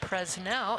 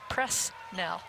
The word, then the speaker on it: Presnell: And Thad, I appreciated that it was Boise, and it's also not Presnell, it's Presnell. So I like the media relations staff that tells you how to pronounce the names correctly.